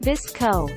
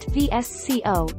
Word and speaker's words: VSCO: answers from us indeed vsco pronounced visco not vsco is an app for